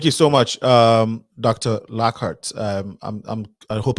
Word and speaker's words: Lockhart: dessert so thank you so much um dr lockhart um i'm i'm i hope i'm pronouncing the name correctly lockhart am i correct okay okay this one you